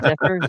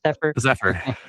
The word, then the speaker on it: Zephyr: How do you say his name? Sapphire? Zephyr.